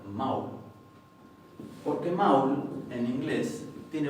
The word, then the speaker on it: mál: Esto lo que está diciendo es que esto no se va a pronunciar mal, sino que se va a pronunciar maul.